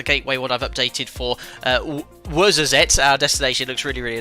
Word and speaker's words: Ouarzazate: It's Ouarzazate, but spelt with an O, lots of Z's, ending in an E.